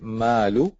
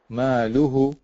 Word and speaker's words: ماله: If you slow it down, so if just say malu. ماله. Hu. هو. Maluhu. ماله. Very good. Before that, you were saying malahu.